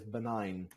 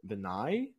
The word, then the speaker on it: benign: I think it's benign? Yeah, I was about to mention it. Yeah. Benign. Let me check the pronunciation. Wait. Yeah, you say like benign.